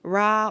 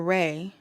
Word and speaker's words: Ra: Rah, pronounced Rah or Rey.